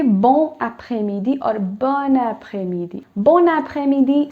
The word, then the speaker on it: bon après-midi: So quickly explaining it, when there's a consonant followed by a vowel, in this case, N is the consonant, followed by a vowel, which is A, okay?